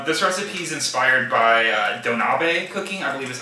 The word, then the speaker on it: donabe: This recipe is inspired by Donabe cooking, I believe is how you say it.